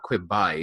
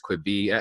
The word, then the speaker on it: Quibi: And B, it's not how you Quibi, because it's not Quibi, it's Quibi.